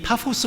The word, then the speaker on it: 파포스: 이름이 바보라 그런것도 이상해요 실제 발음은 파오 쓰라고 이야기를 하는데요 이 파포스 라고 하는 이 도시 바보라고